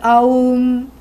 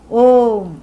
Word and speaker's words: Om: You must never chant aum. Aum, Aum, no. Why? Because Brahman is one thing. It's a monolith. It's the only thing. It cannot be cut up into regions and things. So grammatically also there is violence. Phonetically also there is violence. And even though we may say A plus U plus M, actually it is Om.